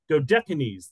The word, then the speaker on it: Dodecanese: This month, we're traveling to Rhodes and Symi, two jewels of the, I didn't pronounce this one here. I didn't practice this, the Aegean. Dodecanese, Oh, Dodecanese.